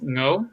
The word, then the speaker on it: Ngo: It's no, the G No, is somewhat silent.